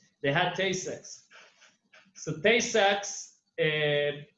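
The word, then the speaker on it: Tay-Sachs: disease which is called tay sachs i don't know if i pronounced it right yeah do i rebel under yep very well they had taste sex so tay sacks uh it's a terrible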